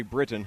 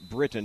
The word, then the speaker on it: Britain: pronounce the first name Britain ok Britain not Brighton but Britain hedges ok yeah we believe